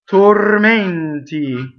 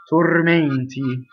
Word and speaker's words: tormenti: Tormenti is to close those. Notice that the R rolls. Tormenti. So a lot of words that are nouns that have E-N-T-O or E-N-T-I have a closed E. Tormenti.